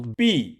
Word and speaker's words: 毕: its phonetic similarity to B, and its minimum strokes. However, B, is the third tone, while B, is the fourth tone, so they are not entirely the same in pronunciation.